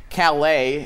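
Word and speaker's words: Caillat: probably heard that song calais is is how it's properly pronounced excuse me it shows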